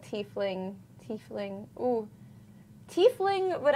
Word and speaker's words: tiefling: Oh Thai fling not tiefling tiefling ooh chief Ling would actually be a really fun pun and I thought it was tea fling it is tiefling but they spelled it